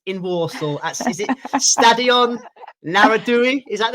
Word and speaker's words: Narodowy: Is it Stadion Narodowy? Is that how you pronounce it? Narodowy, yeah.